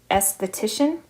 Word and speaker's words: esthetician: in the textbook, is esthetician. And be careful the spelling here. It's ESTHETICIAN. ESTHETICIAN. I have to double check that spelling myself. Esthetician, tricky to pronounce as well. That comes from the term beauty, the Greek